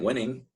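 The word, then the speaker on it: Wenning: and coach matt wening spelled like a winning but with an e matt winning has created or popularized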